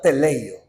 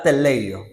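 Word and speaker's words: τελέω: Jesús en la cruz al terminar la obra te leo pero Qué significado tiene esa palabra teleo teleo significa completar o sea pudiéramos leerlo al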